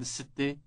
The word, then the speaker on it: الستة: But note also that the number is pronounced with an elongated initial S sound.